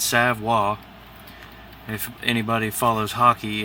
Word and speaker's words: Savoy: of artwork this is a sidewall leather not savoie or Savoye it's savoir if anybody follows hockey it's just like Patrick